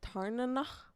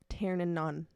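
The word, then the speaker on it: Tairneanach: Like Tarnanach, that's how you're supposed to pronounce the dragon's name of Violet, the main character, but Rebecca Yarros was pronouncing it Tarnanon.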